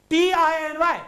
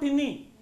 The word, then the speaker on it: tiny: T-I-N-Y. Tiny. Tiny. Not tinny, as the people say.